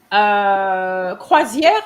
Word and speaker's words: croisière: Croisière, you pronounce it correctly, but I guess you're not probably used to reading it. So you said croisière. Croisière, you can say it now with confidence.